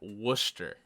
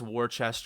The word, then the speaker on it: Worcester: moving along over here worcester you don't say this war chest or anything i think it's just worcester the people there will